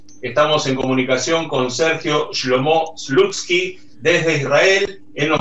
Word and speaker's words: Shlomo: Es Shlomo, ¿no? Con acento en la O, ¿verdad? ¿Se pronuncia así? ¿Es Shlomo? Sí, pero si me llaman Sergio también está bien.